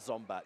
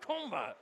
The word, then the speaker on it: Zombat: I'm talking like a round or something between him and Zombat. Shouts to you, Zombat, in the States. Probably watching here now. Probably saying it's pronounced Kombat. No, he told me it was Zombat.